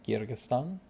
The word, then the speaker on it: Kyrgyzstan: they are kirks that's what they are it's kyrgyzstan uh is how you say it and then